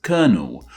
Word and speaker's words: colonel: Of course, when we say this title, we pronounce it as kernel, like the name we use for a singular bit of corn.